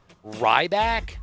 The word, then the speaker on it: Ryback: his name it is Ryback I don't know who that is I've never Ryback like R YB a r y b a k sorry um silent the silent k he he looks like